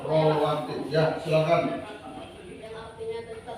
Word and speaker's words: rawatib: Kalau ditulis Latin itu rawatib, tapi bacanya rawatib.